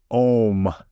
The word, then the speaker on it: om: Campbell describes the uh the primordial sound om a m and he says that this one sound basically contains all the vowels of language like if you fully pronounce it ow like your mouth is open Clos and so it has all the vowels in it and consonants in language